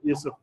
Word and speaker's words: Yusuf: এখানে জোসেফ লিখছে কিন্তু উচ্চারণ কি ইউসুফ।